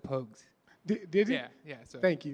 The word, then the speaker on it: Pogues: the what's the what's the proper way to say Pogues pokes yeah it's po juice Pocus I've heard everything you heard of but it's Pogues man Jamal pokes and